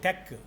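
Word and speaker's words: TeX: don't know there is one software called Tech t-e-x like but that is Greek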